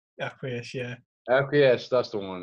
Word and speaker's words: Acquiesce: How do you pronounce it? Acquiesce? Acquiesce, yeah.